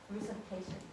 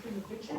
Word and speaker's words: Russification: Like, Not crew, it's with an R. R-U-S, like Russia.